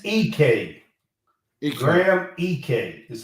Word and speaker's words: Ike: EK it's EK gr EK is how you pronounce and he's the transfer from Wyoming um he started his career at Wyoming it looks like Ike but it's e three-point shooting to me